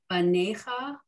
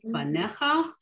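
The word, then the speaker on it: בָּנֶיךָ: The first word, it looks like banecha, but it's really pronounced banecha. The yud is silent.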